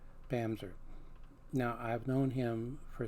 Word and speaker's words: Bamse: Pam's er spell be a MSE but it's pronounced Pam's err now I've known him for several years at